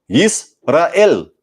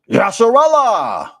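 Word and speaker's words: ישראל: In Hebrew, this word is pronounced Yisrael. Yisrael. Yisrael. But they believe that this was originally pronounced Yasharallah.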